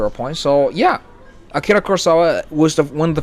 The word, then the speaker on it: Kurosawa: get back to our point so yeah Akira Kurosawa was the one of the first many to